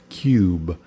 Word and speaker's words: cube: inglês é cube pronuncia cube com aquele B Que Desaparece sem vogal em português nós elevamos